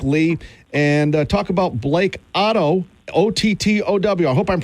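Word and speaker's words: Ottow: And talk about Blake Otto, O-T-T-O-W. I hope I'm pronouncing his name right.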